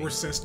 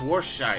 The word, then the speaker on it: Worcestershire: Worcester. No, look at the bottle. Here we It's go Worcester- again. It's Worcestershire. It's Worcestershire.